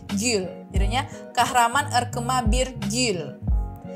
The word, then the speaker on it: gül: sama aja bir kemudian GL yang u yang ada titik dua di atas bacanya bibirnya dimonyongin Gul jadinya kahraman erkema bir